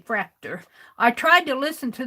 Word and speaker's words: Fraktur: or something like that i make it rhyme with tractor and say fracta i tried to listen